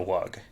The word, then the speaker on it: wug: I'm here to bring you the Gospel of the Wug. Yeah. That's yeah. Wug. It's spelled W-U-G, and it is sort of an